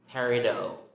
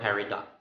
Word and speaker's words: peridot: change of meaning okay so let's start peridot or peridot peridot or peridot you